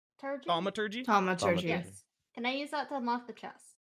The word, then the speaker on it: Thaumaturgy: I can't pronounce this. Thaumaturgy. Thaumaturgy? Thaumaturgy.